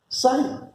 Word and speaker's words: psi: This P is silent. It is psi.